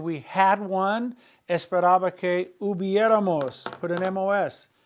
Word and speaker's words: hubiéramos: Esperaba que hubiéramos.